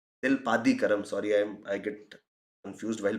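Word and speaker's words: Silappatikaram: Then we talked about Silpa Kadikaram. Silpadikaram, sorry, I get confused while pronouncing it.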